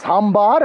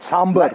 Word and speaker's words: sambar: Just as I keep correcting people, it's Sambar and not Sambar.